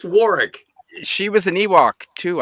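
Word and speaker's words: Warwick: War Davis Warick right well it's pronounced Warick she was an Ewok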